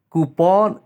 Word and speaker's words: coupon: Lamborghini is Right pronunciation coupon C cpon is wrong coupon is Right pronunciation thumb thumb is wrong